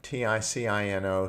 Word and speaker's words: Ticino: Now the Swiss, very interesting, we entered into the canton of Ticino, T-I-C-I-N-O, some pronounce it Ticino.